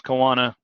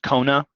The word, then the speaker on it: choana: Honestly, on a lab practical, feel free to use choana because sometimes it's easy because Moana. But it wasn't always like that. It's actually pronounced Kona, but let's see here.